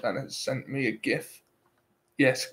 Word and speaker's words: GIF: it sent me a gift yes gif that is how it's pronounced I don't care what the guy who made them says I like the phony